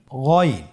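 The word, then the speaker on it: غين: এই গইন হরফটি মোটা অক্ষর, উচ্চারণ করার সময় অবশ্যই মোটা করে বলতে হবে।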